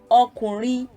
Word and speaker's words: ọkùnrin: So it's re do, re, re, ọkùnrin, re do re. So I know that I would be putting the do on the second syllable there.